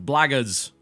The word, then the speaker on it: Blackguards: It's Blackguards. That's how you pronounce it.